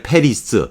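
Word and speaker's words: Paris: 거죠 1번이 예뻐 빵이에요 우리가 파리 이파리가 그런데 패리스 패리스 도 에 불어로 발음한 그렇죠 빠 빨리 빨 빨리 빨리 빳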